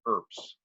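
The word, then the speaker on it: urbs: guys information be s2 there's pronounced with a like a PS so it's actually herbs we get the word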